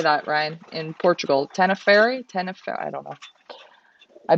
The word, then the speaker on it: Tenerife: Ricardo says this is pretty much Tenef. I can't say that. Tenefer. How do you say that, Ryan? In Portugal, Tenerife.